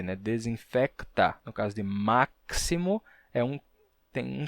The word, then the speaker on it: máximo: Bem, aconteceu que em máximo e próximo, a gente perdeu esse som do k, ficou máximo e próximo.